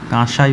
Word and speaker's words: কাঁসাই: Rupnarayan, Kangsabati for কাঁসাই, যেটাকে কাঁসাই বলা হয় অ্যাকচুয়ালি, চন্দ্রবিন্দু উচ্চারণ করতে হবে।